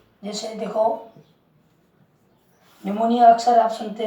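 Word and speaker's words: pneumonia: जैसे देखो, निमोनिया अक्सर आप सुनते हैं, न्यूमोनिया। यहाँ देखो, एन के पहले पी आ रहा है तो यहाँ पे निमोनिया में ये पी साइलेंट रहेगा।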